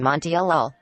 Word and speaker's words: Montiel: My text speech calls me Monty when I am Montiel.